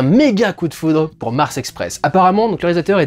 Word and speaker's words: Mars Express: On pourrait prononcer Mars Express bien en française, parce que c'est un film français, mesdames et messieurs.